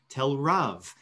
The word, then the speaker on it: TelRav: last name in the correct spot which is the second syllable if you think about